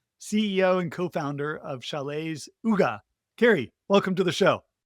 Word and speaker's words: Hygge: So, it is pronounced Ugga, Chel's Ugga.